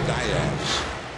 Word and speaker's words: Diaz: So their family has gone with that pronunciation ever since. Matt Diaz is how he says it.